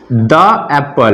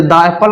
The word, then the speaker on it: the: जैसे यहाँ एग्जाम्पल से देखिए द एप्पल, लेकिन इसे द एप्पल नहीं हम पढ़ सकते, इसे क्या पढ़ेंगे? दी एप्पल। ये सही प्रोनाउंसिएशन है। द एप्पल पढ़ेंगे वो रॉन्ग हो जाएगा।